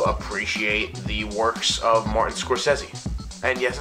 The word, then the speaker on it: Scorsese: I really do appreciate the works of Martin Scorsese and yes it's pronounced Scorsese not Scorsese I'm Italian Scorsese score says The